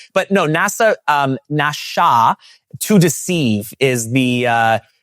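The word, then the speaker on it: נשא: and it and it literally is spelled N A SA, but you would apparently in Hebrew pronounce it Nasha.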